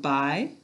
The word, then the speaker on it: buy: i all right and in by we have a silent letter so that by looks like guy except for the marking so what silent letter do we have in the middle of buy good silent u go ahead and write